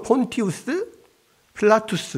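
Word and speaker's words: Pontius Pilatus: 예를 들어서 본디오빌라도 어 원래 라틴어 발음은 뭐겠어요 우스 우스가 붙어요 우스가 붙었다 말이에요 그러면 폰티우스 필라투스 이렇게 원래는 원래는 그래요 근데 우스를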